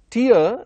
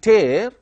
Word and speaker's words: tear: paper or tearing something so tear is a noun here which indicates the tears of the eyes and tear which is which also has the same spelling te AR but the pronunciation is different and the meaning is also different which is called as tear tearing a paper now let